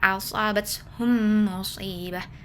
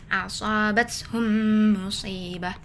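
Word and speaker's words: أصابتهم مصيبة: Cara bacanya adalah digabungkan, dileburkan dua huruf mim dan didengungkan. Jadi bunyinya asabat hum musibah. Asobat hum musibah.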